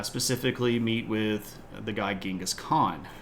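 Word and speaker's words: Genghis Khan: meet with the guy gingas Khan not gask Khan uh his grandson KublaCon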